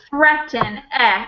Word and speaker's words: threaten: This word here is threaten, with a, not with a long E sound, but an S sound. It's slightly irregular for pronunciation.